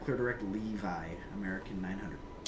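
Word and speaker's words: LEAVI: Delta 900 clear Levi Lima Echo Alpha Victor India. All right. Clear direct Levi American 900. Should be pronounced Levy as well.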